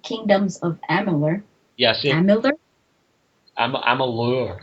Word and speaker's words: Amalur: of Amer yeah Amer Amalur I think it's pronounced mure oh I I I'm